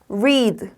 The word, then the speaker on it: read: 이 A는 길게 이 소리 납니다. 자, D는 드 소리 나요. 보이는 그대로 리드라고 읽으면 절대 안 되고 R은 혀가 꼬부라져야 된다고 말씀드렸죠. read, read, read.